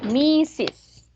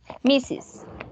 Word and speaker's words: Mrs.: El segundo, como si tuviera dos sílabas, van a decir Mrs. Mrs.